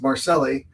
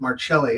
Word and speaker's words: Marcelli: It's Marselli. But if we go to New York, anything, you know, past the middle of the country, we have to pronounce it Marchelli.